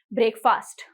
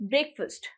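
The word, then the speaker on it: breakfast: बोलते हो इट इस ब्रेकफास्ट आओ ब्रेकफास्ट पे चलते हैं इस नॉट ब्रेकफास्ट इट इस ब्रेक फर्स्ट ब्रेक फर्स्ट ब्रेक फर्स्ट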